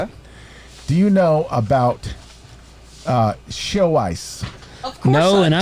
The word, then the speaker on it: Xiaoice: Do you know about show ice?